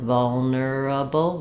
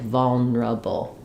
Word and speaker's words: vulnerable: and mispronounce it but it is pronounced the way it's written vulnerable vulnerable um sometimes you'll hear this syllable get a little reduced like vulnerable vulnerable so it might